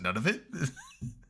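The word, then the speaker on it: Nunavut: what is what is n of voot it's like it's none of it I'm like they just pronounce it none of it okay it's not a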